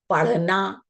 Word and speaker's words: पढ़ना: आपने देखा, मैंने बोला पेड़ और फिर मैंने कहा पढ़ना, बढ़ना।